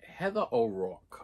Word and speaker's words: Heather O'Rourke: Heather O'Rourke, okay?